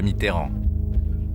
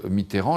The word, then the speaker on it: Mitterrand: Le camp socialiste sait que la France de Coluche risque d'empiéter sur celle de François Mitteran.